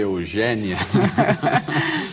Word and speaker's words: Eugénia: Eugênia Melo e Castro, você deve ter percebido que eu fiz um esforço aqui para dizer Eugênia. E não Eugênia. E não né? Eugênia. O seu nome se escreve com acento agudo.